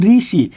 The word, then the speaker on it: ঋষি: ঋষি। আমরা উচ্চারণ কি ঋষি বলি না রসিকার রি? এখানে রসিকার দিয়ে বলি, অবশ্যই আমরা এখানে রসিকার রি দিয়ে বলি।